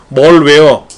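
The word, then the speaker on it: malware: 말웨어가 뭡니까? 말웨어? 이게 바이러스예요. 다른 말로 바이러스라고 불러요. 말웨어를. 멀웨어. 발음은 멀웨어 뭐 이렇게 하는데 그냥 우리말 발음식으로 말웨어라고 해요.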